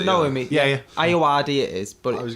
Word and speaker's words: Ayoade: Stephen Richard Aoki. No, Richard Ayoade. Is For how you anyone who pronounce doesn't it, know yeah? him, Yeah. Ayoade it is.